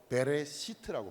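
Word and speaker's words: בְּרֵאשִׁית: 그때 처음으로 태초라는 단어가 나옵니다.이 태초라는 말은 히브리어로 베레시트라고 발음합니다.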